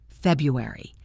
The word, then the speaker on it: February: February. February. Let me give you a bit more time on this one because the 4 syllables can feel a little slippery at first.